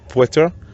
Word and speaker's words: Piotr: In Polish it's Piotr. Piotr. But I love the way British say this. Piotr. Piotr. It's like Russian Piotr.